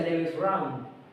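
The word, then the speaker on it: Lebensraum: vital, como en alemán le en alemán se pronuncia leves round.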